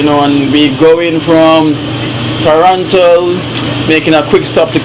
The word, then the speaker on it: Toronto: So notice how I say Toronto. Toronto. Toronto. Exactly. So we pronounce the T in the middle of Toronto.